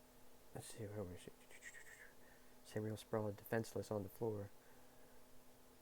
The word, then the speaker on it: Sabriel: And also another thing I learned is there's two ways to pronounce it. You can say Sabriel, you can say Sabriel, but I have an accent, I guess, so I say Sabriel.